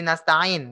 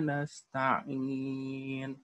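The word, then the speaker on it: نستعين: Ainnya tolong di totalitas ya. Dalam melafalkan ainnya terlebih di nasta'in ya. Mungkin Anda belum mendengar ainnya tadi ya. Silakan coba. Iyyaka na'budu wa iyyaka nasta'in.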